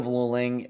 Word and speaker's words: Luling: January of 2021 I think I called it lulling that's just how far I've come I now know how to pronounce the name of the town but San Marcos is up here to the northwest of Luling you'll see it right there that is where